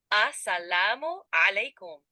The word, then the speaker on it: Assalamu alaikum: For starters, let's try saying hello in Urdu, which is Assalamu alaikum. The pronunciation is Assalamu alaikum. Give it a try.